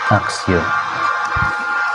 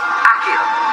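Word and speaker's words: Accio: Jadi caranya itu Axio. Akio, Akio guys bacanya. Bukan Axio.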